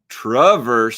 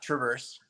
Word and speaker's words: Traverse: name correctly and while we're talking about name pronunciation let's talk about Traverse City whiskey absolutely so the correct pronunciation is it's a hard trap so Travers not Traverse Traverse City whiskey so I said Traverse every